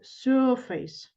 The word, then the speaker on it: surface: surface I'm gonna say surface sorry face yes the first syllable is stressed okay and then let